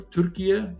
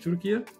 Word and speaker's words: Türkiye: One was Turkey, or Türkiye, forgive me. I think that's how we say it properly now in English, Türkiye.